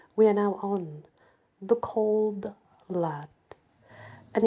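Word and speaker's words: Cauld Lad: we left off we are now on the cold lad and it's spelled c a u l d cold lad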